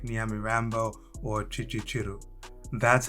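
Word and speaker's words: Kicukiro: $250 a month in areas like Nyamirambo or Chichichiru. That's how locals pronounce it.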